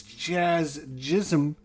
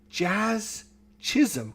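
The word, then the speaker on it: Jazz Chisholm: It's Jazz Jism. Jazz Chisum.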